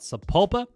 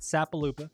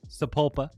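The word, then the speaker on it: Sapulpa: to be talking about sapopa not sapal Lupa sapopa and that is just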